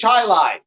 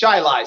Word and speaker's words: Chili: in New York, nothing is pronounced the way it's spelled in New York State. Part of his district is Chilai. That's actually spelled chili. It is. But it's Chilai.